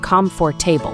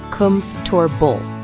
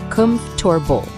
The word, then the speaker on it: comfortable: might think it's pronounced comfortable, right? Nope. Native speakers usually say it as comfortable. The middle part is kind of smushed together. Say it with me, comfortable.